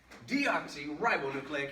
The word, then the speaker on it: deoxyribonucleic: and first let's do this first let's define deoxyribonucleic acid also known as dna right here we